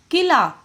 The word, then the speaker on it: कील: जैसे कि कील, किल नहीं, कील, क्योंकि इसमें ज्यादा समय लगा।